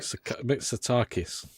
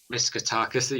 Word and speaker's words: Mitsotakis: The Greece Prime Minister Kyriakos Mitsotakis, did I say that right? Mitsotakis. Mitsotakis, yeah. Thank God someone's here to pronounce it for me.